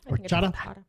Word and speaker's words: horchata: forward to that prices horshata did I just pronounce it right sure horchata okay now I will